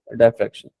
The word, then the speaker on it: diffraction: डाई होती है डी होती या यूजुअली डायफ्रैक्शन कहते हैं, डिफ्रैक्शन भी कुछ लोग कह रहे होते हैं, लेकिन the better pronunciation is diffraction.